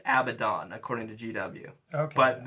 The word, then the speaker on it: Abaddon: or the other I think I think it's Abaddon according to GW okay but that everyone says abaddin I mean not everyone not everyone a lot